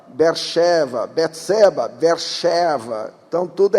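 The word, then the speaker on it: באר שבע: Tem muitas palavras na Bíblia, no português nós pronunciamos si, mas na verdade é shi, Saul, Shaul, Siló, Shiló, Beersheba, Beersheva, Betseba, Beersheva.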